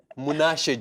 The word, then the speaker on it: Munashe: It's Munashe, just Munashe.